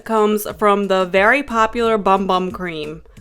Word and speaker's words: Bum Bum: The inspiration for this lotion comes from the very popular Bum Bum cream. They pronounce it Boom Boom, but anyways, I'm not